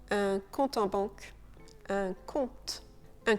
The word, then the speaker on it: compte: Le P de baptême est silencieux. Et c'est la même chose pour ce mot, un compte en banque, un compte.